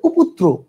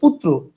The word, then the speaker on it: পুত্র: আপনি যদি রস্যকারটা পয়ের আগে উচ্চারণ করেন তাহলে এটার উচ্চারণ হবে উপুত্র। এটার উচ্চারণ কি উপুত্র না পুত্র? এটার উচ্চারণ হচ্ছে পুত্র।